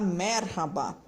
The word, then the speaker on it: merhaba: Para ajudar você a fazer esse som do R, para falar merhaba, marcando o R, não emendando com o H, pronunciando certinho.